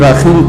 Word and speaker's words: رکھائن: نام دیا ہوا ہے، جس کو یہاں کوئی راخین کہتا ہے، کوئی رکھائن کہتا ہے، تو اس کا اصل تلفظ یہی رکھائن ہے۔ اس کو اراکان کو